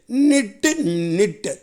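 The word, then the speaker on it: knit: Okay, அடுத்தது பாருங்கள் 9, நிட்டு. இந்த வார்த்தையில் பாருங்கள், கே வந்து முதல்ல இருக்குது. ஆனால் கேவுக்கு என்ன இல்லை, உச்சரிப்பு இல்லை, அது சைலண்ட்டாக வந்திருக்கு. எப்படி வந்திருக்கு, சைலண்ட்டாக.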